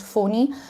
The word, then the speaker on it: Fani: rotational order so the previous one was cyclone fawni it's written funny but it's pronounced phoney it is the name was suggested by Bangladesh